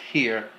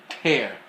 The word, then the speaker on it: Tear: Not Tear, Tear.